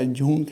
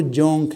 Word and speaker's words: جونک: کہتے ہیں، LEECH، جونک۔ میں نے اس کا تلفظ کے بارے میں بڑا پریشان تھا، میں نے کہا یہ جونک ہے یا جھونک ہے کیا ہے، لیکن پتہ چلا اردو ڈکشنری سے کہ وہ جونک ہے۔ واو کو واو مجہول